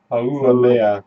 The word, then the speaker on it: Haumea: So there is a dwarf planet in our solar system called Pronounce it. Haumea. Haumea River. Oh man. Haumea.